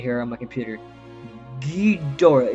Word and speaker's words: Ghidorah: I have the pronunciation right here on my computer. Ghidorah.